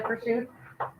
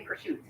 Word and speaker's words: prosciutto: a variation from pizza so you're saying Pursuit I've always said Pursuit oh over there they say Pursuit okay okay yeah so I'm saying it how they say it okay I got it okay gotcha good question it is spelled prosciutto but over there that's how they said it so I'm going with that all right hopefully this